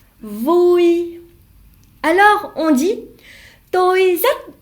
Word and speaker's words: vui: Dans la prononciation, vui est un accent neutre. U et I se prononcent oui. Comme quand vous faites mal, oui. Le U en vietnamien se prononce ou et le I se prononce I.